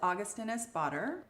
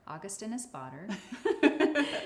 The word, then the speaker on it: Augustinus Bader: So this is Augustinus Bader. Augustinus Bader.